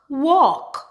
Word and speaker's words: walk: W, ok, walk. Salmon, salmon. Or with some accent, they actually pronounce the L, salmon.